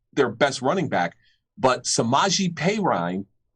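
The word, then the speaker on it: Samaje Perine: best running back but samaji peyraine and i'm hoping i pronounced that correctly because it's the way they pronounced it last week in the game against green bay he's not playing because he's got covert 19.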